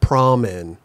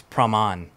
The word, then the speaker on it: Praman: So so I grew up in Thailand. So like, it's a different pronunciation. How is it in there? It's Praman. Praman. Praman. But then in English, you would say Praman. Praman. But like growing up, I heard Praman a lot.